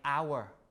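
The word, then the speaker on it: hour: or the words like our right our we don't pronounce the H we don't say Howard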